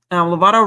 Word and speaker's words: Lovato: Lovato rhymes with avocado, and avocados are from Mexico.